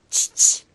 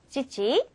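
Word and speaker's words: ちち: 명이래요 자 아빠는 아까 우리 아빠 어떻게 발음한다고요 치치 치치 자 엄마는 어떻게 한다고요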